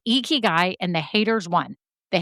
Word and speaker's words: Ikigai: It's Ikigai and the haters won. The haters won on that. The person was right. It's Ikigai.